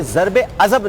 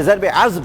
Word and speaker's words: ضرب عضب: رہے ہیں کہ آپریشن، ایک تو میں آپ کی پہلے تلفظ درست فرما دوں، یہ ضرب عضب نہیں ہے، یہ ضرب عضب ہے۔ عضب رسول کریم صلی